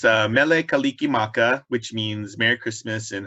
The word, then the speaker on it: Mele Kalikimaka: mealy how do you say that it's a mele kalikimaka which means merry christmas in hawaiian oh kaliki